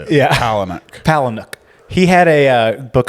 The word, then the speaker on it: Palahniuk: How do you say Chuck Palahniuk's last name? Is it Palahniuk? That was right.